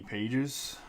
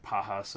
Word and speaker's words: Pages: Brown Jr and Andy Pages which that's not actually how you say his name it's like pahas or something like that we have Max Wagner